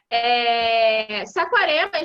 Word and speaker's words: Saquarema: Como se escreve Saquarema? Saquarema? S-A-Q-U-A, Saquá, R-E, Saquaré, M-A-S. Saquarema, gente, Saquarema mesmo, ali na região dos lagos,